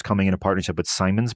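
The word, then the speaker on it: Siemens: in a partnership with Simons by the way seamons I think is how that's pronounced the you know uh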